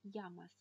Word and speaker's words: llamas: «Como te llamas?» «Как тебя зовут?» Удвоенная буква L является отдельным буквом в испанском языке. И она читается как «эйе». «Эйе». Одинарная буква L читается как «эле», а удвоенная «эйе». И поэтому она всегда читается как «е» в слове «йогурт».